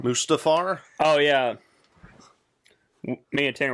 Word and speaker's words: Mustafar: Mustafar? Mustafar. Mustafar?